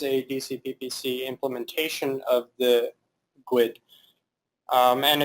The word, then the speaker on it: GUID: GUID or GUID, pronounced by a lot of tech people as GUID, but fallback pronunciation is GUID. No one will be confused if you say that.